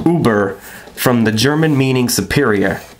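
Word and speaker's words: Über: I just want to show you that Uber is spelt O-O-B-E-R pronounced, which I thought was kind of funny. Alright, so anyways, it says Uber, from the German meaning superior, above the norm, or the ultimate.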